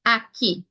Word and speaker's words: Aki: of a Jamaican word so in this case Aki a k i Aki the other vowel the